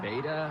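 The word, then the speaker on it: betta: This is it's pronounced apparently beta, B-E-T-T-A, but beta. Beta.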